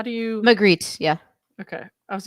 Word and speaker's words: Magritte: Clayton's rebuttal echoes Renee Magritte. Is it Renee Magritte? How do you... Magritte, yeah.